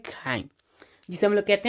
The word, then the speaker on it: chyme: And breaking down food into semi liquid form called chyme. Now it's interesting to pronunciate, that is the chyme.